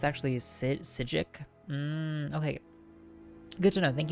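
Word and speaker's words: Psijic: branches all over saig rhymes with sigil so it's actually a sigic okay good to know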